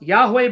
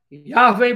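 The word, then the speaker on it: יהוה: Yod He Vav He. Pronounced Yahweh by some, Yahweh by others, Yahovah. And it's the anglicized form is Jehovah.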